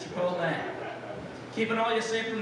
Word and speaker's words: Chipotle: correting people on the pronunciation of Chipotle not Chicot guys Chipotle keeping all you safe